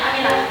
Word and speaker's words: Amira: Nama saya Amira. Dibacanya Amira. Amira.